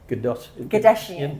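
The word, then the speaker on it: Godaisan: Gadashian. Yeah, we love our pronunciation. Sounds like pronunciation. Kardashian, but it's Gadashian.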